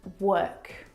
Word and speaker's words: work: The vowel sound is actually as in her.